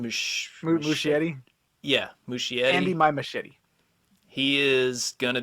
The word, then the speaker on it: Muschietti: Yeah, Andy, Muschietti.